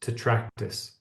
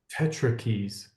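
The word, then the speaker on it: Tetractys: because that word there I've always heard it pronounced to tracus and you are calling it Tetra Keys which is awesome because that little T just needs another little and it'd be an e right so it is Tetra keys but I've never I've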